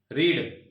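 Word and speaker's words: read: रीड बोल रहे थे ना? देखो रीड भी सेम ही रहेगी, रीड, बट प्रोनाउंसिएशन अलग हो जाएगी, रेड, रेड।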